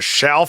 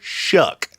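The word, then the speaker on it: Shough: it would be Tyler Shuck. And yes, his last nine rhymes with duck, not shelf. The next person I hear calling Tyler Sha. I'm going to lose my mind. Shuff.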